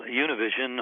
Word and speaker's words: Univision: from univision what is univision and what does that report reveal well univision or univision as it's pronounced in spanish is a mainly next